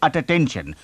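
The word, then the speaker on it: attention: यहां main point है हमारे पास है डबल टी पर हम बोलेंगे नहीं अटेंशन बोलेंगे अटेंशन सुनने में हम सुनते हैं सिर्फ एक टी सिर्फ एक ट साउंड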